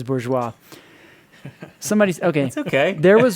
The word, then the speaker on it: Bourgeois: do you say it is it Borgess or do you say bourgeois okay that is bourgeois somebody's okay okay there